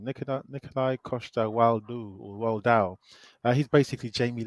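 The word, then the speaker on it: Nikolaj Coster-Waldau: yeah, That is how you say his full name, Nikolai Costa Waldau or Waldau.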